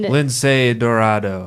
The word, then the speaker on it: Lince Dorado: Lindsay Dorado.